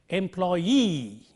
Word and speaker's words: employee: If a word ends in double E, the stress is on the last syllable of this word. For instance, a commonly used word, 3 syllables, employee, the stress is on the last syllable, and therefore we pronounce it employee, nominee, referee, and so on.